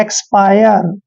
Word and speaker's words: expire: जैसे EXPIRE, EX का उच्चारण हम क्या करते हैं? एक्स, क्या करते हैं? एक्स करते हैं, एक्स। और देखिए एक्स, और PIRE को पायर पढ़ेंगे, एक्सपायर।